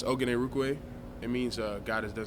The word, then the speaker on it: Orhorhoro: So just remember that the H's are silent, and yeah, but it's been a lot of pronunciations. First name, isn't that really long? Yes, it's Orhorhoro.